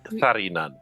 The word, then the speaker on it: Tharinan: Actually, Tharinan, but I call him Thari. You gotta roll your tongue.